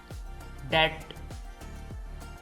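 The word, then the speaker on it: debt: silent है डाउट शक डेट इसमें भी बी साइलेंट है डेट कर्ज सब्बल लतीफ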